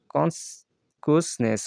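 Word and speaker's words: consciousness: Marked a significant shift in generation জি কনসিকিউসনেস, এটা উচ্চারণটা হবে যেরকম কনসিকিউসনেস, অর্থাৎ কনসিকিউসনেস sharpening their political awareness and reshaping the role of media in their worlds.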